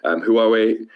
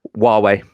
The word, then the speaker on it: Huawei: So it's, like Huawei. How would you spell that? Thank you. Huawei. WAW. Then way.